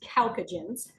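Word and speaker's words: chalcogens: nobody ever really uses that name so it's pronounced calcagens um and it is because oxygen and sulfur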